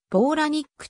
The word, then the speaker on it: Palahniuk: 作ったものでローラニックと発音すると本人がインタビューで答えている祖父のニックは